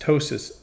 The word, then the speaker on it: ptosis: that's called ptosis protip that's a silent p pronounced ptosis of the eyelid so